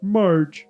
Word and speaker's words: Marge: Is it Mage from Simpsons? Marge.